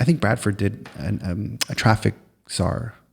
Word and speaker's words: czar: I think Bradford did a traffic SAR. Is that the right word? SAR? Like it's spelled like CZAR.